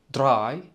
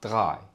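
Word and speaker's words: drei: كرر ورائي نول تيييي اذا قمت بقول دراي تعتبر صحيحه ايضا وقمنا بشرح الاختلاف بنطق حرف الار ب خاص بكل اختصار هي عباره عن اختلاف نطق حسب المكان اذا كنت من اهل الشمال ستنطق دراي واذا كنت من اهل الجنوب ستنطق غاي واجمالا كلاهما صحيح فيع فيع فيع فيع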